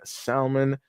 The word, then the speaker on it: salmon: Uh since she said the L is silent in salmon just like the ph is in phone.